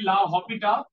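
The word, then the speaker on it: L'Hôpital: আমরা এই প্রসেসটার নাম লা হসপিটাল মানে একচুয়ালি লা হপিটা মানে এইগুলো হইলো স্প্যানিশ স্প্যানিশ ভাষার নিয়ম হইলো অক্ষরের মাঝে নিয়ে উচ্চারণ হয় না তাহলে লা হপিটা কিন্তু আমরা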